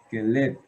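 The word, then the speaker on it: כלב: Realmente, aquí el acento está en esta sílaba, en la lamet, keleb, keleb.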